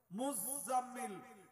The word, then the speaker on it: মুজাম্মিল: সূরা আছে 29 পারা মুজাম্মিল Sabir doubling doubling উচ্চারণ হবে আমরা মুজাম্মিল বলি কাউকে